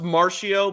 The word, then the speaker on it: Marchio: It's pronounced Marchio, but it's spelled with a CH.